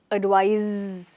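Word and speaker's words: advise: ध्यान से सुनिए, एडवाइस सर एडवाइज। इनकी प्रोनाउंसिएशन में भी एक छोटा सा फ़र्क है, तो वो आपको हमेशा याद रखना है।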